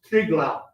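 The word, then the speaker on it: Triglav: in the background mount triglau and in the Slovenian language they don't pronounce the V it's pronounced like a u so you pronounce it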